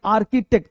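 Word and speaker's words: architect: हो, तो इसको बोलेंगे आर्किटेक्ट। क्या बोलेंगे, आर्किटेक्ट। ये तो आपको आता भी होगा, आर्किटेक्ट, आर्किटेक्चर बोलते हैं ना, तो आर्किटेक्ट नहीं आर्की, आर्किटेक्ट, सी को सी एच को का पढ़ेंगे, ठीक है।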